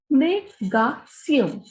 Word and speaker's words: négation: Now, next we have la négation. When we have Tion here, the pronunciation is sion.